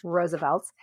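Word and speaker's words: RSVLTS: And so Roosevelt's, which we've talked about before on the show, but if you're unfamiliar, Roosevelt's is spelled capital R-S-V-L-T-S, pronounced once again, Roosevelt's.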